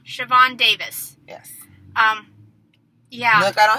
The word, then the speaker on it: Siobhan: bigness but it's a separable say her name shavon shavon davis um yeah i don't have to make